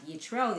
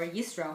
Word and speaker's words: Yitro: Rabbi Eli Mansour, and this is on Parashat Yitro, the upcoming Parasha, and I call this Torah, quote, fuels the earth. And you'll understand why. So, from Parashat Yitro, or Yisro, however you pronounce it, is famous for the